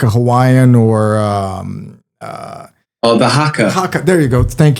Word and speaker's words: haka: the haka.